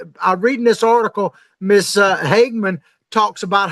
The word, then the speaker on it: Hageman: But Representative, am I saying it right, Hageman? Yeah, Harriet Hageman.